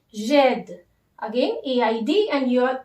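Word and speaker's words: j'aide: vowel, you have to omit this E and you have to use this apostrophe sign and AIDE, jed. Now the pronunciation will be jed.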